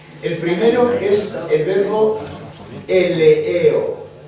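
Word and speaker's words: ἐλεέω: El primero es el verbo eleeo. Eleeo, como suena. E-L-E-E-O. Eleeo.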